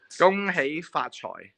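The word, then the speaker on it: 恭喜發財: 恭喜發財. That's how you say it. In Cantonese, right? 恭喜發財. So it's KUNGHEY FAT CHOY.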